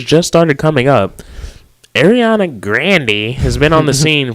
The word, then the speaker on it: Grande: Ariana Grande has been on the scene for several years. Yeah. Newsflash, though, we don't know who Grandy is. America knows Grande.